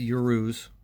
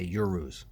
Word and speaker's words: Uruz: here i calculated the urus that's why i keep meaning to say urus i'm going to try to stick with that hopefully that's the way to pronounce it the urus is i